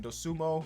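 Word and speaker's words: Dosunmu: Dosumo, right? That's how you pronounce it.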